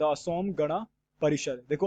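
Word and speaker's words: Assam: पहला क्या है द असोम गणा परिषर देखो असम को असाम कहा जाता है बट इसकी स्पेलिंग यही है अब दूसरा क्या है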